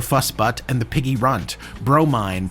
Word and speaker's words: Bromine: Bromine, pronounced Bro, Mine.